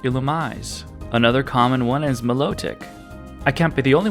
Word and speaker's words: Milotic: Another common one is Milotic. I can't be the only one that was saying Milotic, right? Actually, it's Milotic.